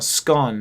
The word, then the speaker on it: scone: Scone or scone.